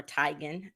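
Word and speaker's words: Chrissy Teigen: but um so that as well um Chrissy Tegan or Tigan as she pronounce is how it's um actually pronounced she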